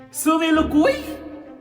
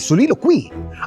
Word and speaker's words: soliloquy: Alam mo ba kung paano basahin ang salitang ito? Suilukuy. Mali isa pa, subukan mo ulit. Ang tamang pronunciation ay solilo quei.